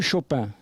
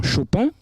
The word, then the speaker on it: Chopin: Chopin parce que Chapin est devenu Chopin. Parce que dans le patois de la Lorraine, le O de Chapin se prononce, le A de Chapin se prononce O.